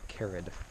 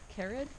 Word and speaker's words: Kerið: at the what crater know how to pronounce it carrot carrot yes throw a little Accent on it oh look stupid